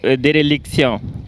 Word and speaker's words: déréliction: C'est éréliction ou bien déréliction? Déréliction. Déréliction. Oui. Déréliction s'écrit D et accent aigu, R et accent aigu, L, I, C, T, O, N.